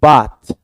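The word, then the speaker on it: bathe: वैसे ही ये भी वर्ड है, देखो बाथ, तो इट्स प्रोनाउंस्ड एज बाथ, लेकिन इसका वर्ब बन जाता है दैट इज बेथ। इसका प्रोनाउंसिएशन भी ध्यान में रखो क्या होता है, बेथ, द ऐसा हमको लिखना पड़ता है, बेथ।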